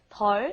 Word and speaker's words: 덜: And like Steven said, be careful with the pronunciation. You don't want to say it's a lot more difficult when you mean a lot less. The pronunciation is very similar. 덜 and 더.